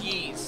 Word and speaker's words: Ys: It's pronounced Yeez.